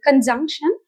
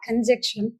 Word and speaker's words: conjunction: கன்ஜங்ஷன் நாட் கன்ஜெக்ஷன்.